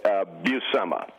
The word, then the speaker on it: Buscema: 477th time that I've been asked like quite buma buma all right see now now would you